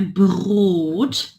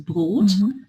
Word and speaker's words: Brot: Então, eu tenho ich, Dschungel, Brot. Aqui, notem que tem 2 pontos, que significa que esse O é longo, né? Brot, also Brot.